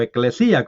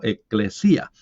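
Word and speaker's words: ἐκκλησία: el libro de Apocalipsis, eclesia o eclesía, como pronuncian algunos. Realmente sí, más bien sería como eclesía, porque el acento está al final.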